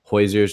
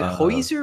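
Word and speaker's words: Hozier: Is it Hoyser or Hosier? I say Hoyser. It almost sounds like you're gonna like burp up some like Hoyser. Well, how do you pronounce it? I say Hosier.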